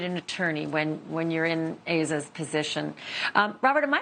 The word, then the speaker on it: Asa: And boy, do you ever need an attorney when you're in Asa's position. Robert, am I pronouncing her name right? I've heard it as Asa. Be the definitive source. It's pronounced Asa.